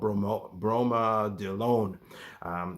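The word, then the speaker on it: bromadiolone: And it's the pronunciation is a little tricky. I call it bromodelone. It's hard to pronounce, but long story short, it's an anticoagulant.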